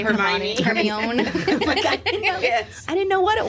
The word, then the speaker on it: Hermione: Hermione. I didn't know what it was. It is not pronounced how it is spelled.